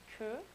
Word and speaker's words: que: Then we have QU, which is pronounced k. The Korean character didn't pop up on the presentation, but it's k. And an example of that sound would be que, which means queue or tail in English.